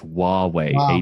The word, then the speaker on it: Huawei: someone help me out Michael Huawei Wow hu aw e how does that not obvious its Huawei and you're from the